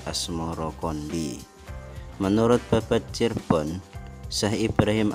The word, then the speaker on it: Asmoroqondi: atau Maulana Ibrahim Asmoro sebutan itu mengikuti pengucapan lidah Jawa dalam melafalkan as samarkandi yang kemudian berubah menjadi asmorokondi menurut babat Cirebon Syekh